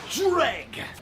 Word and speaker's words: Jreg: over jri it's pronounced dreg yeah it's not some big mystery it's like Dread but with a g at the end dreg though yeah that's